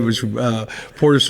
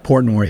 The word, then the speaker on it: Portnoy: It might have been because Dave Portis was wearing that BYU jersey, so he took all the heat. But I think I said his name wrong, so whatever. Portnoy, yeah.